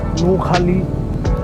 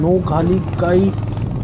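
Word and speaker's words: Nohkalikai: ওয়ান অফ বিখ্যাত false, নৌখালি false. তো আমরা সেখানেই যাচ্ছি। তারপর আমরা কোথায় যাব সেটা দেখতে থাকবো। বন্ধুরা, আমি আসলে একটু উচ্চারণ ভুল করছি, নামটা হচ্ছে নৌখালিকাই ফলস।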